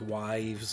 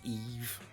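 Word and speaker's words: Yves: be a trade for Eve Belanger that's how you say that name in French it's not wives or anything like that it's really pronounced Eve 27 years old goaltender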